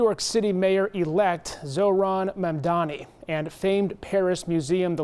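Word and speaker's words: Mamdani: Babel said Mandani's name was consistently mispronounced when people swapped the M and the N in his last name.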